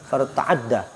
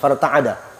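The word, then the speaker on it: فارتعد: Ketika Allah perintahkan kepada kolam untuk menulis, itu apa bacanya? Farta'adda. Tasdid. Enggak, farta'ada. Farta'ada. Goncang.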